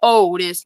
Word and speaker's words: Otis: We don't talk about Otis. No. That's his name, Otis? Yeah. Rhymes with Odie from Garfield.